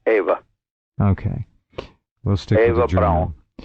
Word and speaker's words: Eva: The parents, if Adolf and Eva were the Ava or Eva, what's the formal pronunciation? In German, it's Eva.